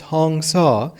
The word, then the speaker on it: Hamsa: Hamsa, pronounced Hong Sa, are 2 sacred Sanskrit chant words possessing a vibratory connection with the incoming and outgoing breath.